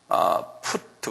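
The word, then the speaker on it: Put: 이것은 영어로 푸트라고 그래요. P-U-T. 그래서 푸트 그래요.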